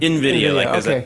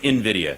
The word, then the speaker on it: Nvidia: Nvidia. Pretend there's an I. Nvidia. Yeah. Nvidia. Sorry. Okay. And and the whole AI craze, right? So, did Nvidia impress or depress investors with its earnings report last night?